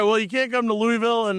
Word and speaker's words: Louisville: Louisville. You have to say it like you have a bunch of marbles in your mouth and a 7th grade education.